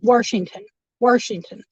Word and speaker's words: Washington: I used to say Washington, okay, with an R. Washington is not spelled with an R, but in my mind, it sounds like Washington.